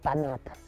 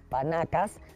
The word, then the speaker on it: panacas: La jerarquía más alta estaba conformada por las 16 panacas. Según me han dicho, no se dice 16 panacas, sino 16 panacas.